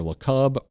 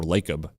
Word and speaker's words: Lacob: It's either LeCub or Lacob, whatever. It looks like Jacob. It's Jacob with an L.